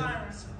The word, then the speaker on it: Siren: Siren. Sing it. I was about to say it rhymes with iron.